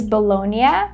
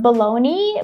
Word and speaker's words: bologna: pronunciation of baloney is Bologna, because it's an Italian word, and a lot of people pronounce it as baloney, which is totally fine, but not really correct.